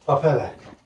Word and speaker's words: pappardelle: pappardelle Yeah, I was going to say pappardelle, so yeah, completely completely different.